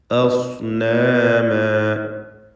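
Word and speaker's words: أصناما: അസ്നാമ, ഈ പദം നല്ലപോലെ ശ്രദ്ധിക്കണം. ഹംസ തർക്കീഖ് ചെയ്യേണ്ട ഇസ്തിഫാലിൻ്റെ അക്ഷരമാണ് ആ, എന്നാൽ ശേഷമുള്ള സ്വാദാകട്ടെ തഫ്ഖീം ചെയ്യേണ്ട ഇസ്തിഅലാഇൻ്റെ അക്ഷരം. ഫനളു, ഇവിടെ തൻവീനും ശേഷം ഫാഉമാണ്.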